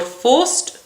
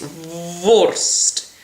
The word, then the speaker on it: vorst: If you're not careful, you'll sing sausage, which is vorst. So make sure you really do a and it's for forced, because otherwise you're singing for sausages, for freedom and for the law, which whilst it's very worthy is not quite the message you wish to convey.